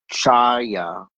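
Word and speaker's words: חוה: Um, Eve in Hebrew uh is pronounced Chaya and it signifies her role as the progenitor of humanity and it means for life or living.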